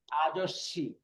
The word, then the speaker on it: 아저씨: এটা কি উচ্চারণ হবে? 사다. সাদা। ওকে, তারপরেটা কি হবে? 비싸다. সাদা। তারপরেটা কি হবে? 아저씨. আজস্বী, আজস্বী।